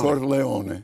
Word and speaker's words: Corleone: You're not only from Sicily, but you're from, how do you pronounce it? Corleone or Corleone? Corleone.